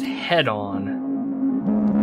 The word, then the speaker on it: Hedon: I actually did some reading on this game, and apparently its name is actually pronounced Hedon, which... I don't know how I feel about that. I'm probably just gonna keep calling it Hedon, because Hedon is applied directly to the forehead.